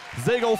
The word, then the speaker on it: Zagel: Zagel for 2. You know how I remember how to pronounce her last name? It rhymes with bagel.